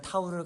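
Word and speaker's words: תו: 히브리어 문자 타우를 가리킴이라고 적혀 있습니다. 타우, 타브라고 발음을 하는데 타우는 히브리어 알파벳 마지막 글자입니다.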